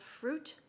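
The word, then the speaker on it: Fryut: of them is called fruit it's spelled in a iconic way as if it was a product from ikea so f-r-y-u-t and it's labeled jewel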